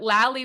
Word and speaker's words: Lally: But at some point, we're either going to put Lally rhymes with Sally in the story, or in this case, I love footnotes for commentary, okay?